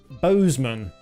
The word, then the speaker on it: Bozeman: Bozeman. That's how you pronounce that.